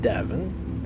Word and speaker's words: Devin: I mean, I always knew that my name rhymes with heaven, Devin, right? Devin rhymes with heaven, also rhymes with 7 and 11.